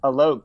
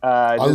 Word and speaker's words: Alok: Well, I just wanted to tell you, it's pronounced Alok. Just Alok.